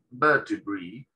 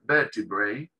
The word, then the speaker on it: vertebrae: Y en inglés se pronuncia vertebrae, ¿sí? Es una de las pronunciaciones que tiene. Vertebrae, también se puede pronunciar vertebrae, ¿sí?